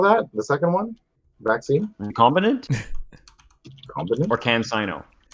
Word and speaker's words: recombinant: recombinant Combinant? or CanSino? It's like recombine ant, except there's no E.